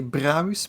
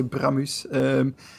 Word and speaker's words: Bramus: So I either say Bramus with a long A or I say Bramus.